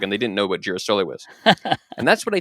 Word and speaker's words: girasole: people spoke English, and there was a mispronunciation of the Italian word for sunflower, which is girasole. And the idea is that an English speaker said, "Oh, a girasole artichoke, a Jerusalem artichoke," and they didn't know what girasole was.